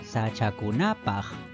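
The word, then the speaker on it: sachakunap: en su última sílaba si le agregamos un sufijo más por ejemplo el sufijo paj Entonces ahora se pronuncia sachak kunap Y nuevamente la mayor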